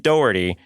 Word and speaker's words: Dougherty: name because it's very specific even though it's spelled like Doty yes her Philly husband would hunt me down